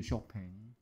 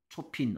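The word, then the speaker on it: Chopin: 보니까 고유명사 할 텐데 이거 쇼팽이죠 쇼팽 초핀 아니고요 쇼팽 쇼팽 유명한 음악가족 뮤지션 뮤직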